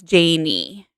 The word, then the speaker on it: Janie: Yes, it's Janie. Rhymes with Jamie.